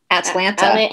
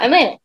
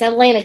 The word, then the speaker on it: Atlanta: are not from here you ain't from around here if you say atlanta atlanta atlanta atlanta atlanta y'all it's atlanta atlanta one syllable atlanta three it's just one syllable locals say atlanta so i guess i'm